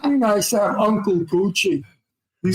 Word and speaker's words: Bucci: It's Bucci like Gucci, right?